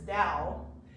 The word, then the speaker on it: Dao: taken from classical chinese sometimes you'll see d-a-o as well but it's pronounced dow it's closer to d i guess but usually spelled with a t um so this this dao is difficult to define